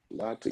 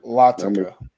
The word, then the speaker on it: Latica: I always say his name wrong. Latik. Lamin Latica. Yeah, Lamin like Latica.